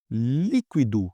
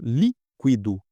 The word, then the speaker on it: líquido: Líquido, a gente separa em sílaba, líquido, líquido. Opa, então é Olha aqui. Última sílaba, penúltima, antepenúltima. É proparoxítona. Acento.